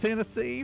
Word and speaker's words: Hennessy: do it again when your last name rhymes with Tennessee it's only 50 yeah Chris uh Chris Hennessy from Tennessee absolutely glad